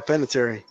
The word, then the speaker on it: Panettiere: Panettiere, there you go, Panettiere.